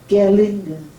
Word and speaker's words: Gerlinde: here my name is my first name is pronounced gerlinger then my